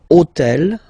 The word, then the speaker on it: hôtel: All right, and third example, so I took on purpose this hôtel, okay, because it starts with H, but remember that in French we don't pronounce H, okay, so basically the